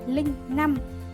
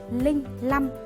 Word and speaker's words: linh năm: Các bạn hãy đọc là linh 5 hoặc lẻ 5 và đừng đọc là linh 5 hay lẻ 5.